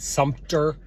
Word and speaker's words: Sumter: sumner see i keep i keep mispronouncing that sumpter um and it's just